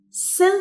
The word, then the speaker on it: cell: Cell phone. Cell phone. Cell phone. الC هنا بتتنطق عشان في بعدها E, فبقول cell.